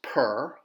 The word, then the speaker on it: pr: ah or there's the plan for a house per which PR means it is the word house